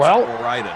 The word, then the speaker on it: Ore-Ida: Ore-Ida is short for Oregon, Idaho. And pronounced Ore-Ida, says Old Man Dog Fans.